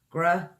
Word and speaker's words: gratuitous: 4 syllables. Gratuitous. Gratuitous. That's gratuitous.